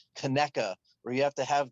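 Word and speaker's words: Conecuh: it's spelled c-o-n-e-c-u-h huh and at first i was like oh cone cone-q ridge whisk yeah that's cool whatever and then i'm like that's gotta be wrong and i looked up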